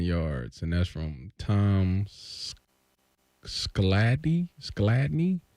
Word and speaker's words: Skladany: No, our longest field goal in history is 59 yards, and that's from Tom Skladny? Tom Skladany. I believe is how you say that, yeah.